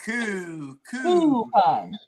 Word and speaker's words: coupon: Now you're saying Q like Q. Like a pool cue. I'm saying coo like she's saying coupon.